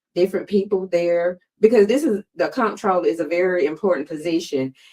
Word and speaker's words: comptroller: Comptroller, yes.